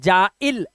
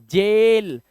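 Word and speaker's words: jail: मत पढ़ना पाइन या चाइन या जाइल ऐसा नहीं पढ़ना है ए आई के बाद एन है पेन ए आई आया chain जेल train rain मेल ए आई को क्या पढ़ रहे हैं ए ध्यान से देखना ऐसे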